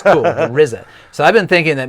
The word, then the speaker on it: RZA: Their leader, their producer, is a guy whose name is spelled RZA, but it's pronounced the RZA, which sounds cool, the RZA.